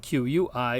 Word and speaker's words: qui: There is an exception when U follows Q. There it makes the sound we. So the word for who, spelled Q-U-I, is pronounced qui.